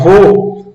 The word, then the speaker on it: vô: Quando vamos pronunciar vô, não abre, não precisa abrir tanto, não há essa abertura.